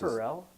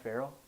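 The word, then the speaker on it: Ferrell: of uh indiana yeah that's perrell yeah it's not farrell yogi farrell i think it's i think it's both are acceptable or maybe they're acceptable alternate pronunciation yes um well i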